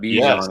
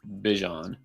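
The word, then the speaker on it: Bijan: It's not Bon, it's Bjon.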